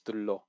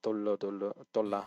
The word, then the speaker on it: 둘러: the 두르다 conjugates as 둘러. So 둘러싸여 있다, not dollar.